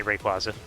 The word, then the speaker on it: Rayquaza: Like I can understand you wanting to say Rayquaza cuz there's no second Y after the after the A, but it is meant to be based on the word quazar.